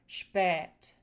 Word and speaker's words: spät: So, first we have the long eh which would produce words like spät.